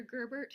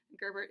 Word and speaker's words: Gerbert: Gerbert is spelled Girbert.